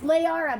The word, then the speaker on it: Lahara: It's Layara, by the way. I know you say my name almost perfect. Silent H. Lay like flower lay, like Princess Leia.